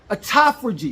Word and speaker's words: autophagy: Autophagy, excuse me, I mispronounced it.